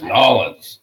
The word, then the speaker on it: New Orleans: I'm going to say it right. It's Nolans.